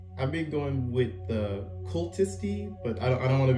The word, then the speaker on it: Kultisti: any pronunciation is okay how it's pronounced in Finnish sort of like cool tisty okay that's pretty cool